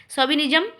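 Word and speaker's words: chauvinism: सी एच ए वी आई एन आई एस एम सोबिनिज्म। अब देखिए ये वर्ड इसमें सी एच इसकी लिखा गया है लेकिन इसका प्रोनाउंसिएशन सो पढ़ा जाता है।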